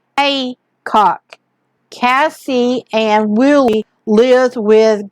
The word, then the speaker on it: Hathcock: He spelled it Hathcock and pronounced it Haycock.